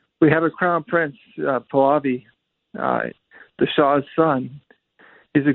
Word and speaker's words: Pahlavi: process to work, we have a crown prince, Pahlavi, the Shah's son.